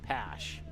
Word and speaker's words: Pash: I just looked at my pronunciation. It's Pash.